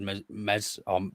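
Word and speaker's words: Meslier: I've I've always rated MZ on with a silent s and in a Not So Silent Zed because there's not a zed in his name but uh there yeah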